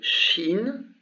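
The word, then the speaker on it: شين: Et la deuxième s'appelle Shin, ça se prononce Shin, et c'est un Ch, le son Ch, tout simplement.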